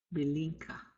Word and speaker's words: Belinka: We're going to nasalize that second I. Belinka.